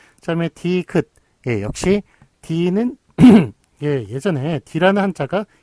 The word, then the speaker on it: 디귿: D는 발음대로 읽고, 요 다음에 요 말자 있죠? 말은 뜻으로 읽어라. 말은 뜻으로 읽어라. 그래서 디읒이 된 거예요. 디귿이 된 거예요. 디귿. 그래서 요거는 그 뜻으로, 긋으로 읽어라.